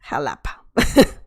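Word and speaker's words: Xalapa: socksu but yeah in this situation jalapa is pronounced jalapa right veracruz jalapa veracruz is the state the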